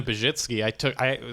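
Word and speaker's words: Pazsitzky: Christina Pajitsky, so she was one of the first headliners I opened for.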